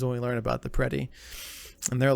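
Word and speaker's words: Predeii: And then you have the Prede. No, the Preti. Is that how you said it? You pronounced it? Preti, that's right.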